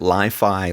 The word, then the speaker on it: LyfAI: They do want you to pronounce it Li-Fi, like it rhymes with Wi-Fi.